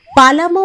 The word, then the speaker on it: পালামু: পালামু নামের ব্যাখ্যা শোনাচ্ছিল পালামু নামটার আসল উচ্চারণ পালামু আসলে এ নামটির বুৎপত্তি